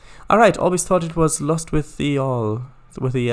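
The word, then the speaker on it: Lostwithiel: And Lost with Hill is pronounced Lost with the All.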